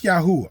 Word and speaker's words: Yahuwah: Seek Yahuwah, all you humble of the land. And I say his name right there, all right, because his name is actually in the Hebrew script right there.